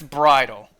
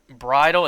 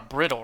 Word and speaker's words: bridle: asking that means no knights bridle that is how i pronounce it right bridal it's not a brittle right brittle brita filter wait